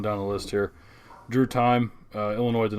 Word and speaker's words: Timme: So it's Drew Tim. Tim. I told you this off air. It's Drew Tim. Tim. Terrible with names. He's got a bad name. It's spelled funny. It's nothing new. Timme. If anyone else could tell me and look at that name that it would be Timmy or Time, Tim.